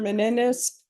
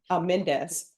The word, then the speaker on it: Mendes: Mr. Menendez Mendes. I don't know why I'm adding extra syllables.